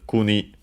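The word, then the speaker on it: 国: Uh we check its accent but its meaning is uh country state. Technically other meanings but uh uh fundamental one is country uh and it's an accent. Okay. So Kuni is correct.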